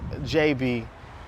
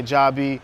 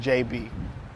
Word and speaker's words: Jabee: My name is actually pronounced Jabee. It's spelled Jabee. So people do, sometimes say Jabee or Jabee, but it's actually pronounced Jabee.